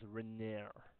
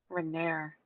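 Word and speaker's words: Renaer: The pronunciation of his name is Renair. Renair.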